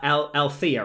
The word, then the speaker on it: Althea: So you are Althea, right?